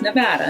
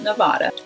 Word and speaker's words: Nevada: I always said Nevada, but everyone who lives there says Nevada. I thought that was maybe like dealer's choice, pun intended, but actually I was corrected a lot by everyone who lived there and said, no, it's Nevada, not Nevada.